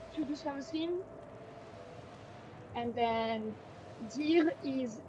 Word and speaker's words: dire: Only the E. Qu'est-ce que ça veut dire? I mean, in most words, bar like a couple exceptions, only the last letter is silent.